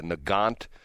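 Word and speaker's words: Nagant: This is a Russian rifle called, I believe it's uh it's spelled N A G- A N T, a Nant.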